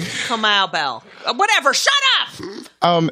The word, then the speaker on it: Kamau Bell: Yes, because I watched you on Keanu Bell's show. Yes. Are you really a football fan? That's Kamau Bell. Kamau Bell.